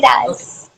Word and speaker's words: Kiraas: Is that the way to pronounce Kiras? Yeah, it's Okay. Kiraz.